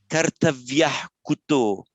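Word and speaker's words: कर्तव्यः: So here, so on its own, or at the end of a word, this word would be pronounced kartavya. Aha, the little shadow at the end. But because it's immediately followed by kuto in the same word group, you don't get the shadow vowel.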